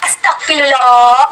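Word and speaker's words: أستغفر الله: seperti itu lanjut Masyaallah Astagfirullah asagfirullah dalam pengucapannya bukan seperti itu tapi Masyaallah itu saya paham tentang Tajwid tentang makhij huruf dan sifatul huruf itu sekali lagi Astagfirullah bukan Astagfirullah tapi astagfirullah astagfirullah jadi Masyaallah Astagfirullah itu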